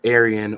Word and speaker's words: Aryan: and Indus um and some people pronounce Aryan or I say Aion a r a y a n ancestry in connection to